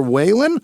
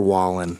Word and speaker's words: Wallen: no last name, Tyler Whalen, Wallen. No, it's Tyler Wallen. That sounds like Morgan's brother, but it's spelled way different.